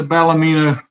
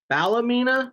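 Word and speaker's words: Ballymena: So, but they do play at the Balamina Showgrounds 4,100 capacity and it's I mean [clears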